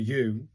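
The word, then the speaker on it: う: But I've noticed this thing at the top of say this one, the U, as in pronounced like the oo in zoo.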